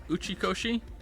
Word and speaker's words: Uchikoshi: Also, just to be 100% clear, am I actually saying Uchikoshi? correctly? I don't want to mispronounce someone's name.